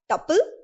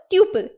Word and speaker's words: tuple: pronunciations of this term it can be known as tuple or tuple in any case it